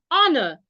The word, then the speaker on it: honor: to see you should not sound the H when the H is silent in words like honor the H in that word when you spell it should not be said when you're pronouncing it air honest in these